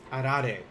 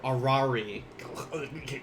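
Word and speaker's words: あられ: Arare. Please don't say arare or arari. Arare. Arare are sweet Japanese candies often given in Hinamatsuri.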